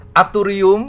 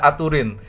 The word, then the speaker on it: Aturin: Ada yang bilang Aturin, ada yang bilang gitu ya, Aturin gitu ya, ada yang Aturium bahkan. Aturium. Memang agak beribut. Padahal sebenarnya yang paling benar adalah Aturin.